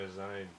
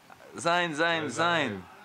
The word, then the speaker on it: zine: I like to drink my wine and read my Zine. Yeah. Sein. Zine. What do you No. mean? It's pronounced zine. Sein. What do you mean? It's pronounced zine.